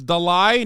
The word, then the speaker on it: Dalai: the it's Dolly it's Dalai not Dolly stop am I saying